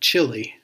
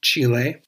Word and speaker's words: Chile: country of Chile and if you grew up in the farming Community where I'm from you would probably just call it chili but I'm quite sure that it's pronounced Chile it's official we are